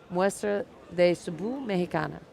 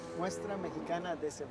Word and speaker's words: Muestra Mexicana de Cebu: We will be live from the I always say it backwards. Muestra de Cebu Mexicana. Yeah? Did I say it right? I always want to say Cebu Muestra. Muestra Mexicana de Cebu. Oh, Muestra Mexicana de Cebu. You got to end with the Cebu.